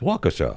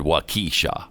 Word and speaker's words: Waukesha: norfolk and apparently waukesha it's waukesha we've been saying that waukesha i've never said wakisha i know that i